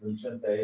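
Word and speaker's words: Vicente: if you want to see something funny, Google Vincente, and it's spelled Vincent, but it's pronounced Vincente in Spanish, Fox on Donald Trump and the border wall.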